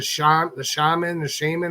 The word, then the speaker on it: shaman: talking with Sean, the shaman, how do you say that? Shaman.